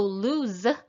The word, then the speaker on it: lose: about lose and lose so lose with this voiced sound is a verb and